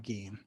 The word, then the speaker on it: Gein: edward theodore green again should be gained by the way i still i'm upset that he pronounced his name gene like everything about the english lane like like e i is an a sound right fine yeah like